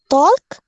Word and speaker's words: talk: Okay, the L doesn't sound in that word.